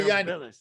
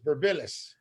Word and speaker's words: Birmpilis: Hi, Birmpilis. That's how you pronounce it. Birmpilis.